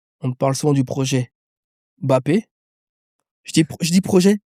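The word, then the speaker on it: Mbappé: Pourquoi les gens ils aiment toujours dire Mappé ? Oui. Ah oui oui. Bppé il est à moitié camerounais, à moitié algérien. Au Cameroun on prononce pas le M. C'est Kyan Bappé.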